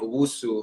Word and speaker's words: Owusu: you to have an opportunity to explain usu am i saying your last name right yeah